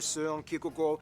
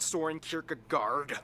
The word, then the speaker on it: Søren Kierkegaard: Hans Christian Andersen, philosopher Søren Kierkegaard, or whether... That's actually how you pronounce his name. Wow. It's not Soren Kierkegaard.